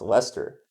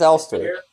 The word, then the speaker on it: Elster: It is spelled that way, so some might think it is pronounced Lester, which confused me briefly, very briefly. But it is Elster.